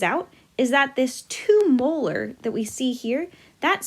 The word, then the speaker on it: molar: our unit for molarity this capital m stands for molarity and it's pronounced molar so that is telling